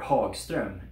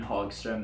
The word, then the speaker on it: Hagstrom: Builders in Europe had a different response, however, and one of these brands was Hagstrom, or Hagstrom, if you want to pronounce it correctly. It was founded by Albin Hagstrom in 1925 in Älvdalen in Sweden.